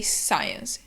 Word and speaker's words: science: So we say science. The C is silent, like in scissors.